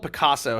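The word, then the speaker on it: Pacaso: interesting guys is um there's a group called picasso have you guys ever heard of picasso now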